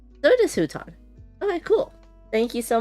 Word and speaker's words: Hutan: Uh, Ben says, "Looked up pronunciation. It is Huton." So, it is Huton.